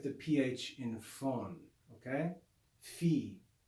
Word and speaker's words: phi: the sound and but the way that most people pronounce it is just like the english ph in phone that's how it's been